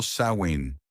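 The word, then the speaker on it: Samhain: celebraban la fiesta del Samin, pronunciado Sain, literal del gaélico fin del verano, para pedir por una buena cosecha el año entrante.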